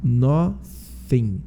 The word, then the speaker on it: nothing: Lembrando que a pronúncia do TH tá aqui de novo no nothing, ó. Então a gente pronuncia com esse TH, ó. Nothing, nothing, nothing.